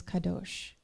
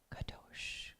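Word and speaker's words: קדוש: gravity and radio waves the old ashkanazi pronunciation of the Hebrew word for Holy is kados if you repeat this slowly and softly it sounds like the surf kados kados kados a gigantic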